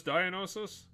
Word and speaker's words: Dionysus: it's so ridiculously overspelled he said it right it's Dionysus it's such a weird